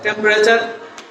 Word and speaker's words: temperature: এখানে চারটা ভাওয়েল আমরা বলবো না, সরি চারটা ভাওয়েল না, চারটা সিলেবাল। চারটা সিলেবাল থেকে আমরা চারটা সিলেবাল থেকে আমরা তিনটা সিলেবাল উচ্চারণ করবো। আমরা কি হয় টেম্প, এখানে টি ই এম পি পর্যন্ত আমরা বলবো। এখানে ই শব্দটা যদি আমরা ফেলে দেই তাহলে থাকে কি টেম্পারেচার।